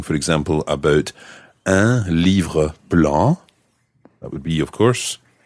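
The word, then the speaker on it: blancs: Feminine plural becomes Blanche so again it sounds the same as the singular but it's got an extra s on the end I sometimes think when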